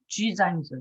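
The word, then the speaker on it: Gisin: 지생 지생이라고 번역이 돼 있는데 원래는 지상이죠. 지상 지상인데 s가 중간에서 즈로 발음 나잖아요.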